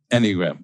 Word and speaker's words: Enneagram: Am I saying it right? Yes, you are. Or is it Enneagram? Enneagram. How did you say it? Enneagram. Yes, I think, yeah. I don't think it's Enneagram. It's Enneagram. Okay. Enneagram. So accent on the first syllable.